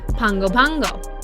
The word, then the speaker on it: Pago Pago: Today we have spotted a bay on the opposite side of Pago Pago, which we actually found out is pronounced Pango Pango.